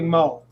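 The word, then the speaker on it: Meaux: And a guy named Larry Moe, it's spelled M-E-A-U-X, but it's pronounced Moe.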